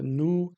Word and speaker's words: nu: Para os coeficientes nu e mu, que são letras gregas, se pronuncia nu e mu, aproximadamente assim, não N e U.